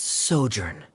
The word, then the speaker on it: sojourn: clear uh director's osimos how do you pronounce this word let me see Ah that's sojourn it means to stay for a while this